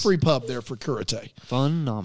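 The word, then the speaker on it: Cúrate: It's called Kurate. Okay. C-U-R. See, I went there and I was expecting to be taught karate, but it didn't quite work out. It's spelled curate, C-U-R-A-T-E, but it's pronounced Kurate.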